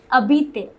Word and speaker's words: habiter: However, do you remember the H mute that I taught you? Yes, habiter, though it begins with H, it is pronounced habiter. The H is silent.